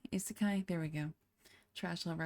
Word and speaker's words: isekai: Isekai. Isekai.